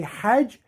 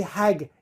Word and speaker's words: Hajj: So in Arabic we say Hajj, but in Egyptian they say Hag.